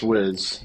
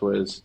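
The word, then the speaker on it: rizz: is short for Charisma no it's pronounced whz it's pronounced whiz but that that's just for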